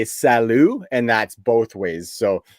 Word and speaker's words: salut: actually thinking that yeah it's like salute without pronouncing the t salute yeah yeah absolutely